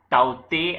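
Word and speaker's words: Tauktae: On that note, so on the very front page, cyclone Taukte, or Taute as we pronounce it, it's from Myanmar or Burmese language, right?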